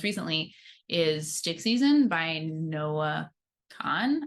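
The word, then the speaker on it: Noah Kahan: is stick season by Noah Khan I think is how you pronounce no Kahan yeah I know a few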